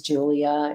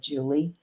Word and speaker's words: Julia: And yeah, her name is Julia, and I said Julie.